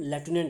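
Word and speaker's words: lieutenant: बोलते हैं हम लेफ्टिनेंट है वैसे, लेकिन स्पेलिंग क्या होती है, यहाँ देखिए आप, LIUTENANT, इनकी लिeutenant होता है वैसे।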